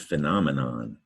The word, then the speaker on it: phenomenon: PH sounds like an F sound. All right, in PH, you see it often. Words like phone, elephant, and paragraph, and fen, at least the syllable fen. There's nom, and men, and non. Yeah, this is the word phenomenon.